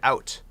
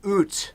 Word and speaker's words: out: Like a lot of Americans, they say out. It's oot. That's how we say it in Canada. And in Canada, we invented English, right? And so oot is the right way to say thank you